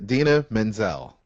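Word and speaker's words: Idina Menzel: oh John how do how do you really pronounce this is it Adena yes it's ad Adena Menzel okay I don't get it not to be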